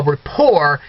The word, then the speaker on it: rapport: I couldn't develop a rapport now that's a French word that's why the T is silent I just wanted to mention that to you but I couldn't develop a rapport with the kiosk ok